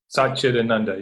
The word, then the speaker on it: Satchitananda: and we were talking about, I might not say it right, Satchitananda, Satchitananda, yes.